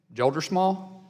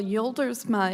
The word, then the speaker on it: Joldersma: Well, Yoldersma is how they would say it in the homeland. So you're exactly right, but we say Joldersma here in the U.S.